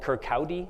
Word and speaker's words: Kirkcaldy: He was born in this tiny town called Kirkcaldy. That's how that's pronounced in Scotland.